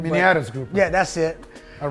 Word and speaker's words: miniatus: So I have I can't say the first name, Maiatus grouper. I can't say it correctly. Miniatus grouper.